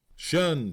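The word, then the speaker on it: 'shun: Shun squad abbreviated from the attention and pronounced shun if the pleb was slow.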